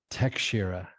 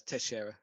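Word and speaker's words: Teixeira: has a different one my one is glover tekshira no it's teshera tashira okay and yuri i'm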